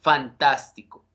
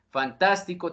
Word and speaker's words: fantástico: una le pone tilde ejemplo de esto fantástico fantástico tiene acento en el en la sílaba antepenúltima que se conforman por los fonemas t el fonema vocálico a y el fonema fricativo s por tanto le pongo acento ortográfico es decir todas